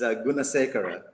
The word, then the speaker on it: Gunasekera: Don't even try pronouncing Sri Lankan surnames, but it's Gunasekera. Gunasekera.